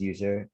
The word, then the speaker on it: usr: which is very convenient in the user usr or which is i think it's pronounced as user and the share word